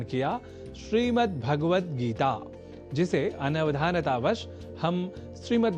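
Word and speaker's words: भगवद्: श्रीमद् भगवत गीता पर श्रीमद् भगवत गीता, इसमें भगवत पद में गकार से संयुक्त अ स्वर का हम लोप कर देते हैं और कह बैठते हैं भगवत, जबकि शुद्ध उच्चारण भगवद ही है।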